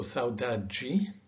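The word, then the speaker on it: saudade: as a d with a j uh so sauda ji agua g beber so although this word is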